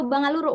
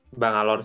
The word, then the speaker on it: Bangalore: Kemudian sekarang sedang menempuh studi di Bangalore atau Bangaluru, Mas bacanya, Mas? Bangalore sih biasanya.